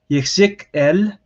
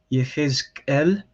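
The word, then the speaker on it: יחזקאל: For example, this is pronounced Yechzik-el or Yechezkel.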